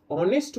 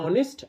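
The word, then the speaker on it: honest: আর hour আ দিয়ে শুরু হচ্ছে রাইট তো অনেস্ট বলো আর আর বলো এইচ এর উচ্চারণ কিন্তু হাওয়ারও হচ্ছে না হনেস্টও হচ্ছে না হচ্ছে অনেস্ট আওয়ার এইচ এর প্রোনাউন্সিয়েশন বা উচ্চারণ হচ্ছে না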